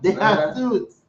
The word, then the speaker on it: De Jesus: De Jesus. That's Spanish way.